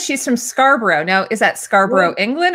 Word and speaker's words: Scarborough: Scarborough.